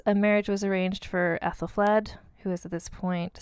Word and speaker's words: Æthelflæd: So in 886, a marriage was arranged for Æthelflæd, who was at this point 16 years old.